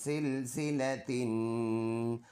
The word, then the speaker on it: سلسلة: ज़ेर फी, ثم फी, सीन लाम ज़ेर सिल, सीन ज़ेर सी, सिल सी, लाम ज़बर ला, सिल सिला, ता दो ज़ेर तिन, सिलसिलतिन।